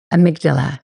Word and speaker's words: amygdala: It's like Amy and then a G and then Dala.